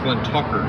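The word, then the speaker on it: Glentauchers: is fantastic and it is really it's actually pronounced Glenn Tucker yeah Glenn talkin Tucker's we had one old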